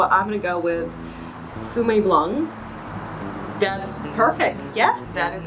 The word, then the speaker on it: Fumé Blanc: And you know, the reason I said that the second word is a tricky one is because here in the States, it is appropriate to pronounce it as Blanc. So a lot of people actually pronounce that C as a K here in the United States.